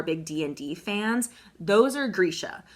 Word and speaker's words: Grisha: Bardugo's universe revolves around something known as Grisha, I believe is how you pronounce it. At least that's how I'm going to pronounce it.